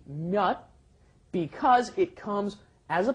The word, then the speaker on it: 몇: It's pronounced just as a closed off D, 몇, because it comes as a 받침 without and ㄹ in front of it.